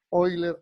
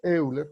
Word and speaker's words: Euler: segunda propuesta la plantea Leonard oiler o Euler como lo quieran pronunciar sí Euler es otro matemático